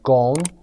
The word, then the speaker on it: Ghosn: به این صورت نوشته شده اما به این صورت خونده میشه، اسمش تلفظ نشده. گون is Brazilian، برزیلی هست.